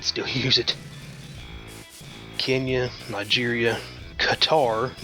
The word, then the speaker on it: Qatar: use it Kenya Nigeria Qatar not gatar Qatar Saudi Arabia and Sudan